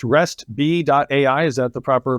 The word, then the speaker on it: Restb.ai: And it sounds like for nearly almost 10 years now, and is it pronounced RESTB.ai?